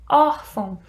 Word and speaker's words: órfão: Olha aqui, órfão. No caso da palavra órfão, eu tenho um acento aqui, olha, na primeira sílaba, or, e eu tenho a presença aqui, olha, do tio.